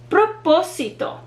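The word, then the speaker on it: propósito: the o proposition so proposito is a four syllable word but when you hear propo sito the third to last syllable is the one that receives the stress or emphasis because that is where the accent mark is located proposito great job another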